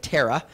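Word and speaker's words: Terah: of a man named tarak tarak now we'll pronounce it terra as that's how it appears in our king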